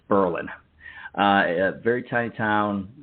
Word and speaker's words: Berlin: very mad if you spelled it if you pronounced it Berlin so it's Berlin uh a very tiny Town very few people